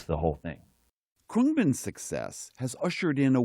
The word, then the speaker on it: Khruangbin: It's a Thai word that sort of means airplane, and it is a tough one for even die-hard fans to pronounce. I was calling it, like, Khruangbin. Khruangbin.